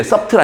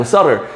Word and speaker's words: subtle: 그리고 자, 이때 B는 묵음의 subtle 아니고 subtle, 미묘한 예외들이 있습니다.